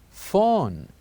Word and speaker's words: phone: word are pronounced or these two letters when we found them in a word whether in the beginning or in the middle they are pronounced as F sound for example let's have